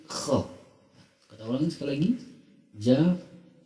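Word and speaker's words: خ: Jadi harus kedengaran kha. Jadi jangan tanggung, jangan gha, jangan kha, tapi kha. Kita ulangi sekali lagi. Ja ha kha. Ja ha kha.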